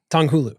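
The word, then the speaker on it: 糖葫芦: Tonghulu. Yeah. So essentially by what you did, you limited the scope of this to like the addressable market is people who know what tonghulu is.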